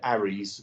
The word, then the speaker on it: ARRI: I mean, most people use lighting called ARRIs, which is spelled ARRI.